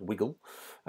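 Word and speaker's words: WiGL: a milestone achieved from the guys at wiggle which is how you pronounce it apparently um now they have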